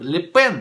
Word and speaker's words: Ле Пен: Правильно, Ле Пен, да, правильно говорить.